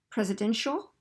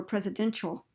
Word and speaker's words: presidential: So presidential, that's a sh sound, or presidential, that's a ch sound.